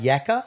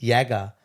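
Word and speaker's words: yakka: of you know hard yaka yeah well it comes from a tribe in Brisbane um and the correct pronunciation of it is is Yaga not yaka and Yaga means strenuous work so Yaga Corporation is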